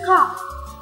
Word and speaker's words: cough: Cough.